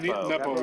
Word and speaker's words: Nepo: Nepo. Nepo, yeah. Nepo. Nepo, yeah. The guy who lost to Magnus last Yeah. time. And they're both just kind of choking and playing bad. Nepo choked so hard the last Well, you know